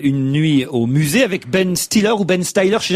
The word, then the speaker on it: Ben Stiller: Ah bah c'est moi qui avais raison, j'ai dit Ben Stiller hier et j'ai entendu Isabelle Motro dire Ben Styler.